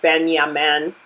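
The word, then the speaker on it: בנימין: And Benjamin's name is pronounced Ben-Yamin.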